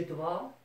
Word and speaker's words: dois: Je dois, tu dois, il, elle, on doit, nous devons, vous devez, il or elle doivent. Notice you're not pronouncing the S here or here.